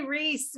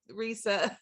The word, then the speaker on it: Risa: I say Reese because I can't pronounce anything, but yeah, so Risa.